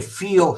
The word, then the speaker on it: fio: La spina dorsale seè il filo della schina o il filo della schiena l perché fio senza l proprio scritto fio se in veneziano che vuol dire figlio figlio mio, come ti sta?